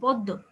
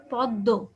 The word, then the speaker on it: পদ্ম: যেই ব্যঞ্জনটার সাথে যুক্ত, যেমন ছদ্ম, পদ্ম, দেখো এই শব্দটা দেখো, পদ্ম, এখানে দয়ের সাথে যুক্ত না, আমরা কিন্তু পদ্ম বলছি না, হ্যাঁ, অথবা শুধু পদ বলছি না, কি বলছি, পদ্ম।